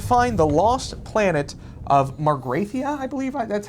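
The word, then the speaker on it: Magrathea: And they're going to find the lost planet of Margrathia, I believe. That's how I pronounce Magrathia.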